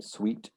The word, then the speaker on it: suite: kitchen's over there seeds that's exactly the same pronunciation but different spellings sweet oh really so those are different words but they're pronounced the same suite or uh a suite